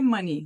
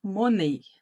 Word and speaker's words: money: com isso aqui ó monei né Vocês vão tentar falar monei porque no português a gente leria assim e essa não é a pronúncia correta da palavra em inglês alguém aí sabe qual